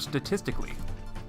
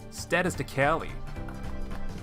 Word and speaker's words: statistically: but I just remembered I usually like to mispronounce the word statistically instead I like to say status to Cali status to Cali speaking if you put the emphasis on the wrong syllable people think you're crazy okay so we need